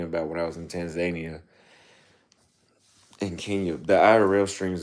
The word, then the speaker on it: Tanzania: It's actually not pronounced Tanzania. If you talk to people from Tanzania, they pronounce it Tanzania.